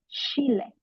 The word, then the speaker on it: Chile: Now looking at chile words that contain a ch are replaced with the English sh sound. Let us take for example chile itself would be pronounced as chile.